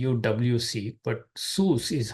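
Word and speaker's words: סוס: is SS King James uses C WC but sus is how it is pronounced Within These curly braces I'm giving you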